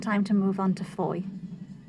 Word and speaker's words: Fowey: to move on to Foy which I hadn't quite worked out how to pronounce we still thought it was called fawi thank you